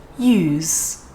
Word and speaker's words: use: and that's just because these types of sounds tend to get weaker when they are at the very end of a word so you can think of it as more of a 50 50 between a z sound and a s sound use but i don't